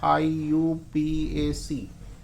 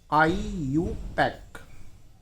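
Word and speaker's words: IUPAC: पे ऐसा होता है, आईयूपीएसी तो बोलेंगे अपन ऐसे, ठीक है ना। लेकिन ऑथेंटिक जो प्रोनाउंसिएशन है इसका, जो आईपीएससी को प्रोनाउंस किया जाता है वो आईयूपैक।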